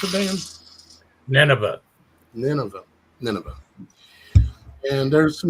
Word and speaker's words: Nineveh: to go and warn the city of uh nve is that how you pronounce it Dan Nineveh Nineveh Nineveh and there's some nevas in this